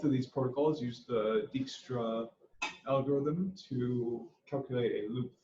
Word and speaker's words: Dijkstra: Dijkstra Dutch Dijkstra Dutch so it sounds more like Dijkstra than Dijkstra but really it sounds like neither it sounds like a Dutch pronunciation that's but I definitely